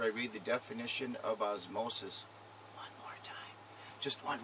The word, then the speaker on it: Ozmozezz: again here it's osmo's it's spelled o z m o z ezz pronounced osmosis and here's the definition